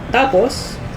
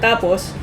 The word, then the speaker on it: tapos: In the first syllable, right. Tapos, that means and then. But when you say it fast, like this one, tapos, that means finished or like to finish, basically.